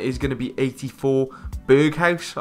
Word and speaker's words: Berghuis: going to be 84 Berghuis, I believe is how you pronounce it.